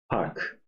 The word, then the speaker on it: park: for the last example Park I'm not going to say that's even difficult to pronounce that's par that's that's wrong so it's par like one syllable one vowel you don't soften it or uh top top